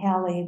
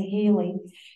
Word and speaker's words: Halley: It's supposed to be pronounced like Sally, Halley, but most of us say Haley.